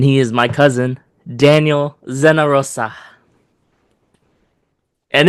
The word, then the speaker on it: Zenarosa: And he is my cousin, Daniel Zenarosa. And it's Daniel Zenarosa coming live from Hawaii. Oh, very good. Nice pronunciation.